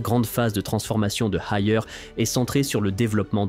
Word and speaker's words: Haier: D'ailleurs, le nom Haier provient directement des 2 dernières syllabes du nom de Liebherr, prononcé à la chinoise.